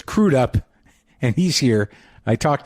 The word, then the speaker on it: Crudup: uh and this is the first time i've ever pronounced it crude up instead of crud up which is wrong so it's crewed up and he's here i